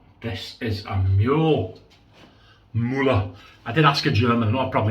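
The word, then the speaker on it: Mühle: I said to him, Sven, how do you pronounce this word? And he said it's Muller.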